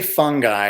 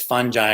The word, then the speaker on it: fungi: You could say it either way. Okay. The pronunciation is actually, I think, technically fungi. Oh. But lots of people say fungi in different parts of Europe, fungi. And as Paul Stamets said